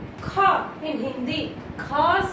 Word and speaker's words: ख: How to pronounce? Kha.